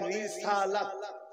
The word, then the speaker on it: রিসালাত: নারায়ে তাকবীর আল্লাহু আকবার উচ্চারণটা হবে রিসালাত নারায়ে রিসালাত মামানার রিসালাতের